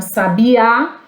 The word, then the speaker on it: sabiá: Nós temos uma pessoa sábia, nós temos um passarinho que se chama sabiá. E você sabia que isso é verdade? Olha as 3 formas de falar: sabia, sábia e sabiá.